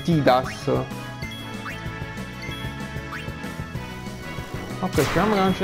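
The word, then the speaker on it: Tidus: Ok, ho fissato questo T-Bus. Cioè, mi so. Mi sono abituato a dire T-Bus, che in realtà la pronuncia corretta è T-Das.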